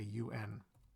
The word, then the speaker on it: UN: for the United Nations so we don't say on we say UN USPS for United States